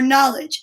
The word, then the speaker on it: knowledge: to show everybody your knowledge now knowledge sounds like it starts with an n but remember there's a silent letter k there and it's kind of